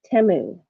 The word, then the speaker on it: Temu: do you say it I've been saying it t but on their commercials they see they say temu so I don't know